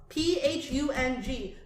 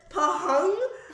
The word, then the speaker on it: Phung: There is a PH in English. Elephant. Telephone. Yeah. People have said pahung.